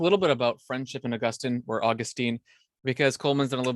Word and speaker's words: Augustine: So how do you pronounce his name? Oh, it's Augustine.